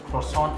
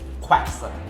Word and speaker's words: croissant: Yeah, he pronounced croissant as quacks. It's a croissant.